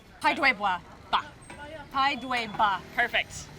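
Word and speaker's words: 排队吧: Pai dui ba. Pai dui ba.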